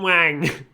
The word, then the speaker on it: Wang: president himself it's president Wang it's pronounced Wong but it looks like Wang I can't Roar and